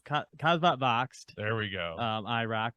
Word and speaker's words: Kasvot Växt: going to have to help me with the pronunciation Bryant cuz I'm going to butcher this cvot vax irck yep so it's kvat voxed there we go um irck but you did